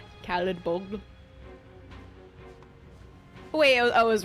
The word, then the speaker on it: Caladbolg: Remember being so disappointed to learn that Caladbolg is pronounced how it looks? Caladbolg? It sounds like a salad bowl. Caladbolg.